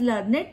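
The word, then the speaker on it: learned: We pronounce it एज लर्नेड to rhyme with created, weighted, हम इसको लर्नेड को कैसे प्रोनाउंस करते हैं, लर्नेड, लर्नेड, ठीक है, to rhyme with created, weighted.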